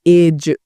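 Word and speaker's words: edge: यहां पर क्या होगा एज एज तो यहां पर साइलेंट क्या होगा एज डी साइलेंट होगा ठीक है फिर यहां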